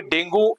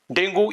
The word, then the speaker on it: dengue: होता है जैसे कि डेंगू ये वायरस हम सब पहचानते हैं डेंगू या डेंगी दोनों तरीके से ये प्रोनाउंस किया जाता है चिकन गुनिया चिकन